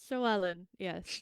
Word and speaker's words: Llewellyn: Llewellyn, yes, Llewellyn.